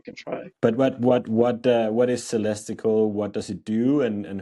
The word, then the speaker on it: Celestical: Am I pronouncing it right? It's perfect. Celestical.